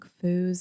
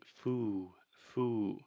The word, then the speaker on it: fools: but Alexia is saying foo-foo so the correct pronunciation is full full this is a very difficult sound this final L sound in linguistics many times we call this the dark L but the biggest thing